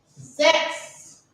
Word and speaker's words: sechs: Now, sechs.